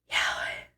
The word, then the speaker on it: Yahweh: Like Yahweh. It's like breathing. I saw this one video on I think it was on TikTok or somewhere. It's like breathing, like that.